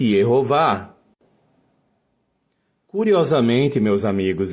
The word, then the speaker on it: Yehová: Portanto, o nome de Deus, as 4 letras do tetragrama, ele deve ser lido, evidentemente, Yehová.